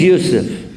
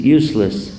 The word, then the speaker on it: Yusuf: in the parking lot my name is yusuf can you say yusuf he got it perfect the first time no i'm married all these years my wife still pronounces it useless what was funny maybe